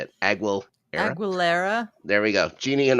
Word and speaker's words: Aguilera: Aguilera.